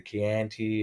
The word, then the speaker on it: Chianti: Highly recommend it to, you know, all the wine regions, the Chianti, and I think it's Chianti. It is Chianti. Chianti, yeah. It's spelt with a CH.